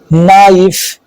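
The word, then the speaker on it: knife: एन से पहले आने वाला के साइलेंट होता है, जैसे नॉक, नो, नाइफ, नॉलेज।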